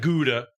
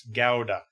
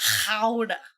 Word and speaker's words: Gouda: It's not Gouda, it's Gouda. It's If you want to get real fancy, Howda.